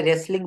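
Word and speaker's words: wrestling: আপনাকে টি দিতে হবে যেমন এখানে রেসলিং বানানে আপনি তো ডাবলিউ রেসলিং বলছেন না এখানে যেমন এই যে রাইট বানানে ডাবলিউ রাইট বলা হচ্ছে না এখানে এই শব্দ এই যে লেটার গুলা এইগুলোকে বলে সাইলেন্ট লেটার এমন আরো অনেক শব্দ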